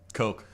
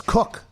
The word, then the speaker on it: Koch: Industries, the two brothers, isn't that pronounced Cock? Coke. Coke, okay. But it's spelled KOCH, so there are different tomato. I thought it was Cook, them. I thought it was Coke. It's definitely not cock.